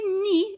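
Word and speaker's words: nid: and when you say knee you don't hear the d on the end of it so you'll see that it's spelled n i d but you just say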